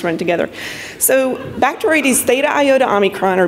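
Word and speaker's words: Bacteroides thetaiotaomicron: I've worked on this organism for 15 years, and I finally learned how to pronounce the name. Bacteroides theta iota omicron.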